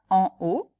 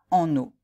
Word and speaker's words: en haut: vous l'aviez bien prononcé est-ce que vous dites bien en haut et non pas en eau parce que c'est ça l'erreur que j'entends très souvent c'est la liaison entre 1 et o mais on ne peut